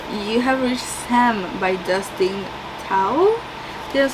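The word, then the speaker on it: Dustin Thao: It is called you have reached Sam by Dustin towel that's how you say it I picked this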